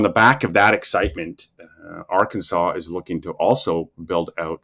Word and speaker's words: Arkansas: Yeah, and then I mean, Arkansas is. Sorry, I didn't pronounce it quite right the first time, but Arkansas is very interesting.